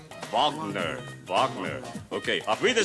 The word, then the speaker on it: Wagner: pronunciation of the words they don't say the w the baby say the w you don't see Wagner when you talk about the musician right you say bonder Bachman okay I'll be